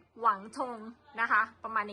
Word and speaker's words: Wangtong: ค่ะ โรง เรรียน อ่า เรา อ่าน ว่า วัง ทอง นะ คะ แต่ ว่า เขา จะ ออก เสียง หวัง หวัง ธง นะ คะ ประมาณ อย่าง